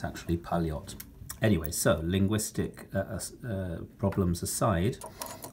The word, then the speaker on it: Poljot: officers of all types in those decades now paliotta is the correct pronunciation of the the watch company it's not Paul dropped with a J it's Polly OTT with a